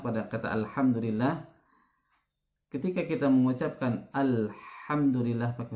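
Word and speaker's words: الحمد لله: Yang harusnya kita membaca huruf H, ini dibaca dengan huruf H, ya. Apa bedanya? Contoh pada kata Alhamdulillah, ya. Banyak orang membaca Alhamdulillah karena belum pernah belajar makharijul huruf, ya.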